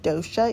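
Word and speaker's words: dosa: dish is called gunpowder Dosha I recently learned that it's pronounced Dosha even though it's spelled d-o-s-a and it's called gunpowder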